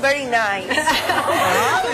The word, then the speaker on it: Berenice: El nombre de Reina Berenice, se escribe Berenice, pero lo pronunciamos very nice.